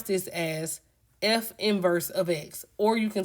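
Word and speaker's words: f⁻¹(x): And we pronounce this as f inverse of x or you can say the inverse of f ofx.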